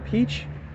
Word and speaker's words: Pécs: trip but yeah we're we're in Peach uh which is doesn't really spell that way but whatever that's that's that's how you pronounce it in Hungarian and we're about to